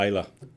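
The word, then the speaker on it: Ailsa: I'm going to go Isa. Isa. Isa. Sure. With a with a S that is not pronounced.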